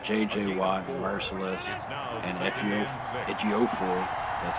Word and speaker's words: Ejiofor: Watt and Merciless and Ejiofor, that's how you pronounce his name, on the other side, but just not really quick enough.